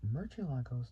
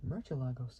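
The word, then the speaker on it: Murciélago: So in the Castilian Spanish, spoken in most of Spain, the word's pronounced with a voiceless dental fricative. So fricative, which is a type of consonantal sound used in some spoken languages. So with a voiceless dental fricative. However, the Italian automaker often uses both the Southern Spanish and Latin American, Latin American Spanish, Latin American Spanish pronunciation with an S sound, so like with a sound technically.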